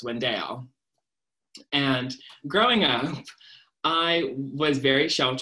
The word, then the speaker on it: Wendell: oliver wendell holmes but no one in the south pronounces it wendell so it's windale and growing up i